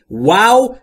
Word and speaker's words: wow: Wow دقت بکنید وقتی که میخواید wow رو تلفظ بکنید هم ابتدای wow و هم انتهاش w و زمانی که شما میخواید w رو تلفظ کنید در انگلیسی لبهاتون حالت بوسه به خودش میگیره و هوا خارج میشه.